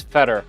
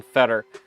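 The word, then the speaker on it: Fedor: gets it wrong kin my name is feder and it's spelled Fe d o r I know all about people getting my name wrong there's literally a 1% chance of somebody looking at my name and saying Fetter so I get it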